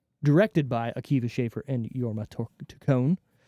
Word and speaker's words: Jorma: by AKA schaer and yorma tone I think that's how you say it j o r m a yorma yorma Jorma no idea whatever rated